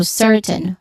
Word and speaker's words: certain: Pronunciation wise, certain, which there's the first syllable is stressed syllable, sir. So certain, which has a short e sound, certain.